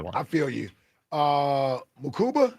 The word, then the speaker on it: Mukuba: Uh, Mukuba, how you pronounce his last name? Uh, Makuba, but he said Andrew, it's He goes by Drew, so it's Drew Makuba.